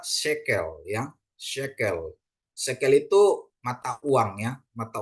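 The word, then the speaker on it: שקל: ya matsak ya terus ada Shin Shin kasih segol kop kasih segol terus lamet ya jadi dibaca sekel ya sekel sekel itu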